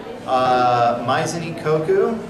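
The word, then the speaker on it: Maison Ikkoku: There's Rin-ay, that's spelled R-I-N-N-E. Maizuni Koku, spelled M-A-I-S-O-N.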